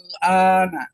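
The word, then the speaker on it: الآن: Tapi A-nya itu, hamzah pertamanya itu dibacanya 6. Al-ana. Nah, itu kira-kira gitu ya.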